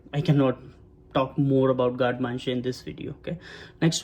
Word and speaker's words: garde manger: I was pronouncing it as a garde manger, right? But it's a garde manger. It's a French word.